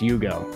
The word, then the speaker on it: Ugo: I get it yes Ugo is pronounced Yugo okay we'll try that you